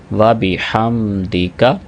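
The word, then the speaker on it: وبحمدك: سبحانک اللہم وبحمدک، واو کے بعد با ہے، اس کے بعد ہا ہے، اس ہا کو اکثر احباب مس کر دیتے ہیں، وبحمدک۔ صحیح تلفظ اس کا کیا ہوگا؟ وبحمدک۔ کاف کو بھی لمبا نہیں کریں گے اور دال کو بھی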